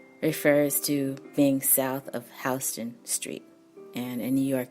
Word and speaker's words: Houston: So Soho refers to being south of Houston Street. And in New York, you do say Houston, even though it's spelled Houston.